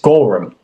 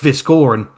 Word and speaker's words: Goran: I keep trying to say Chris Gorum. Yeah, it's such a weird name, isn't it? It's pronounced Goran and I keep saying Chris Gorum and it's a it's